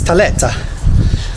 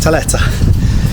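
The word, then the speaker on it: tlieta: to say TFA yes FFA in malti it's Teta I that's how you pronounce it Teta uh what about number four remember that yes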